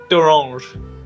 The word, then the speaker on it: D'Orange: Like d'orange. D'orange, okay. Yeah. It's a pun that I realise probably doesn't work outside of the UK. Okay, yeah. We have Terry's chocolate orange, which is like Chocolate.